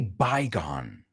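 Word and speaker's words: Baygon: Well, we say bygone. You say bygone. Bygone se Okay. pronuncia. Como las dos, Well- la preposición by y luego gone.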